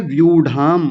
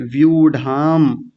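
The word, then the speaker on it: व्यूढाम्: क्या शब्द है, व्यूढ़ाम, बड़े ऊ की मात्रा है, व्यूढ़ाम। तो हल्का सा लंबा खींचेंगे, व्यूढ़ाम।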